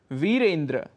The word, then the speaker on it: वीरेंद्र: वीरेंद्र कह देते हैं हम, जबकि शुद्ध उच्चारण है वीरेंद्र।